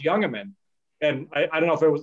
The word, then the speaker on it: Jungemann: and somebody said well how do you say his last name because it starts with a j and they said oh it's younger men and i i don't